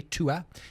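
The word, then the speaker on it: Tuath: is a a unique glass is called the to a glass a tu a th but you pronounce it like tu a to a to a is the old Irish word for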